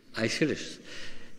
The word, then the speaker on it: Aeschylus: This man, I didn't know how to pronounce his name. How do you say his name? Aeschylus.